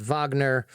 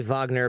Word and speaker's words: Wagner: private military force called Wagner and we say Wagner because that's how they say it it's you can say Wagner it's the same thing and the other name